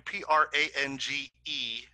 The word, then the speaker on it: Prange: Gordon Prang, P-R-A-N-G-E. Mm-hmm. Even though it's pronounced Prang, it's spelled like it's Prange.